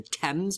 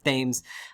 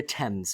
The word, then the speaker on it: Thames: connects London to the sea is called the Thames please do not pronounce it Thames unless you want a British bartender to give you a really weird look uh the Thames folks and then the famous river in Liverpool